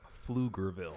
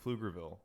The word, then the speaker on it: Pflugerville: Yeah, you would think it'd be spelled with an F, right? That No. or a PH at least.